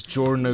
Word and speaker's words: Giorno: Because in Italian, that the Gio actually it's the GIO is pronounced just Joe, so it Yeah. is Giorno Yeah.